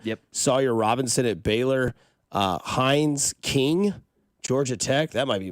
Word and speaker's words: Haynes: Hines King, Georgia Tech. That might be my guy right there. Hines King. I like that. Haynes, Haynes King.